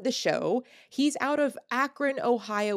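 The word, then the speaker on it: Akron: show he's out of akan Ohio which I always want to pronounce acran and he's been a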